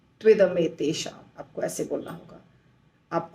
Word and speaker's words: त्विदमेतेषाम: तो तु इदम एतेषाम हो जाता है त्विदमेतेषाम, त्विदमेतेषाम, त्विदमेतेषाम।